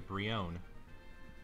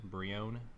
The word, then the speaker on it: Brionne: We got a Brionne. Is that how you pronounce it? Brionne? E is silent.